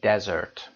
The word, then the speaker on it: desert: desserts رو دقت داشته باشید تلفظ و نحوه نگارشش. اگر 1s باشه در اینجا desert هست که به معنای بیابانه و تلفظ رو دقت داشته باشید desert بیابان.